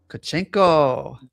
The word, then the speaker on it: Tkachenko: Marissa, and special guest DJ Myla Tkachenko.